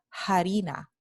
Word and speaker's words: harina: pronuncia hambre hambre y esta palabra se pronuncia harina harina este fenómeno se llama la aspiración de la h proveniente de la f latina ocurre sólo en las